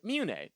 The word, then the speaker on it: mune: Now, Masa rhymes with vasa, which is a parrot native to the island of Madagascar. And Mune, which sounds like a Canadian boy looking up at the nearest celestial body to Earth.